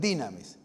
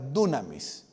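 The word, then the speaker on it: δύναμις: vestidos de poder dinamis la pronunciación moderna en griego es dinamis la pronunciación antigua es dunamis sean investidos de dinamis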